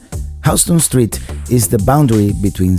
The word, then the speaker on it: Houston: Houston. It's spelled like the city of Houston in Texas, but pronounced Houston. Houston Street is the boundary